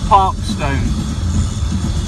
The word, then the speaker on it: Parkstone: And when we go over this roundabout here, we go into a part of Poole called Parkstone. It's pronounced Parkston. When I left home this morning, there wasn't a cloud in the sky.